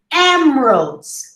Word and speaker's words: emeralds: rest you don't hear emeralds emeralds or ember emeralds emeralds you have two schwas over there interested interested you see